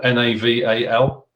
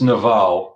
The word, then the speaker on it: Naval: naval n-a-v-a-l but it's naval it's an indian it's like royal navy but it's naval because it's a long v because of the india sorry it's a long a at the end i'm very careful who